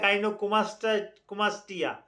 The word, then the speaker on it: গাইনোকোমাস্টিয়া: দর্শক শ্রোতা আলোচনা করব গাইনোকোমাসিয়া কি? এটা কেন হয়? কি কারণে হয়? কাদের বেশি হয়? এটা হলে করণীয় কি? মনোযোগ সহকারে ভিডিওটা দেখলে এই গাইনোকোমাসিয়া এটার আরেকটা উচ্চারণ হয় গাইনোকোমাস্টিয়া।